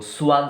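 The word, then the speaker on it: Schwann: जो स्वान cell, SWAN, स्वान cell. क्या बोलेंगे बेटा इसको? सॉरी, इसका स्पेलिंग मिस्टेक हुआ, SCHWAN, स्वान सेल।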